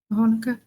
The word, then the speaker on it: Hanukkah: Is that pronounced Hanukkah? Hanukkah.